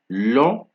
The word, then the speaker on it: long: Then the next silent letter we're going to look at is G, right? So examples of this are long, long, like it's long, c'est long, right?